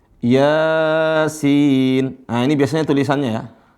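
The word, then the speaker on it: يس: Huruf 1 Yasin. Nah, ini biasanya tulisannya ya. Afwan. Ditulisnya biasanya dalam Al-Qur'an ya. Gitu. Dalam Al-Qur'an dibacanya ya sin.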